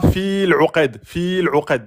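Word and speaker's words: فِي الْعُقَدِ: Donc, ne dites pas fil 'uqad. Non. Fil tout de suite. De fi tout de suite sur le lem. Fil 'uqad. Et on met la qalqala sur le del. Fil 'uqad. Et on prononce bien le qaf en emphatique.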